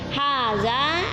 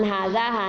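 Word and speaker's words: هذا: Kalau di bawah ini menunjukkan perempuan, setelah haza ditambah ha, itu bunyinya hazihi, itulah yang membedakan. Kalau yang di atas man haza hanya berakhiran alif, maka bacanya haza, kemudian yang perempuan hadihi.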